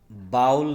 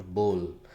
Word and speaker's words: bowl: बाउल नहीं कहा जाता है, दैट इज़ कॉल्ड बोल. उसको हम बोल बोलते हैं. काफ़ी सारे लोग इसको मिस प्रोनाउंस करते हैं. द राइट प्रोनाउंसिएशन BOWL, बोल. That is नॉट बाउल.